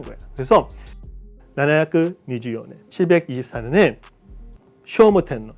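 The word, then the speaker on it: 聖武天皇: 그래서 나나야 니즈요네 724년에 쇼모텐너 이게 쇼모라 읽어야 돼요.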